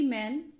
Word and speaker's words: Maine: तो मैन ने कहा, हेनरी मैन, बेसिकली इसकी जो स्पेलिंग है दैट इज MAINE, बट इसे प्रोनाउंस करते हैं मेन.